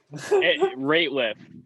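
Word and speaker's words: Rateliff: know if it's nathaniel radcliffe in the night switzer it's nathaniel something in the night sweats rate lift not radcliff or rate with yeah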